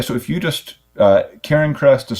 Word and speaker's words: Cairncrest: the way yeah so if you just uh Ken Crest is spelled c a i r n c r